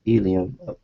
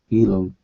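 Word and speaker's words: ylem: solid core of nothing yum pronounced Elum Elum with a name like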